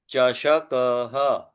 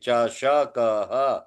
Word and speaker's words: चषकः: आसन्दः चषकः दन्त चष, चष नहीं, चषकः, चषकः दन्तकूर्चः चमसः स्यूतः चमसः